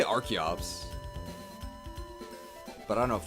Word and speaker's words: Archeops: Biol lizard's body slam real question archeops or Arch Ops okay Terry Davis Davis is posting the Katakana of an item Stardust the Katakana of Zio's weapon apparently it is xax but I thought it was a sword not an axe so I say archeops but I don't know